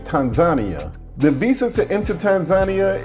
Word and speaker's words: Tanzania: city Dar es Salaam I was used to say in Tanzania but the locals let me know that the right pronunciation is Tanzania the visa to enter